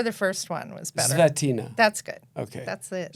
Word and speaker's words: Zvetina: Zvetina.